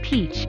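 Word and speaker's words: piç: outside of turkey pic pronounced peach is the turkish word for bastard so when in turkey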